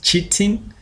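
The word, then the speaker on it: chitin: so kiteen is um it depend with how you you pronounce it others will call it cheating uh me I call it kene that's according to my grade one teacher uh yeah so uh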